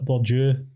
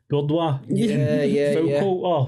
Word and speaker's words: Bourdieu: So like Bourdieu, Foucault. When I first picked up their books, I was calling them Bourdois.